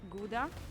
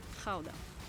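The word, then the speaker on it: Gouda: this one behind me depending on whether you're a native you will pronounce it either GAA or Kaa so since we're talking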